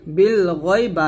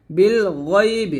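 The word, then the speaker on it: بالغيب: গয় না জবর গয়, বিল গয়, বা জের বি, বিল গয়বি, বিল গয়বি, এখানে বিল গায়বি বলবেন না, বিল গয়বি বলবেন, গয় মোটা করে।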